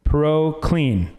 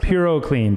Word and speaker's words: PuroClean: It's a uh Proloc Clean. Did am I pronouncing that right? Purlean. Purocan.